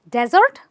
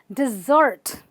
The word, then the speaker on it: dessert: it what is it it's called dessert no think again this word is called dessert dessert where you stress the earth and what does it